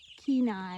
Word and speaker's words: Kenai: Kenai. Kenai. Like Alaska.